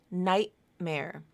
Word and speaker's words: nightmare: as a gladle stop same thing with nightmare so now you have the linking happening within a word but it's the same process your first syllable is Knight your second syllable is May so you have a final T link to an m so that t typically will become a glottal stop nightmare nightmare not nightmare